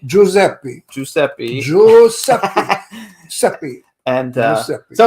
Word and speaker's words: Giuseppe: Giuseppe? Giuseppe.